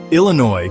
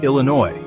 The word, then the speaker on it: Illinois: language, culture, and colonization, Illinois comes from Illinoc, the name of a powerful confederation of native tribes. French explorers recorded it as Illinois, softening the sounds and adding that now familiar silent s.